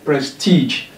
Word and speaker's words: prestige: Look at this word, prestige. We have two syllables here, prestige. Press teach, and according to what is on the chalkboard, the stress come on the last one.